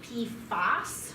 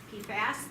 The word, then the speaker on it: PFAS: in this family of p foss when i say p f a s p fast that's the family when i you when you hear people say p foes they're generally saying pfos i will spell it